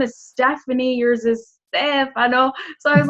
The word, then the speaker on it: Stefano: And how do you say your name in Italian? I say my name, Stefano. You say Stefano, right?